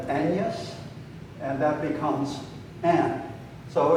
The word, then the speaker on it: Agnes: you know back then agnes was probably pronounced with a sort of silent g like an aneus and that becomes an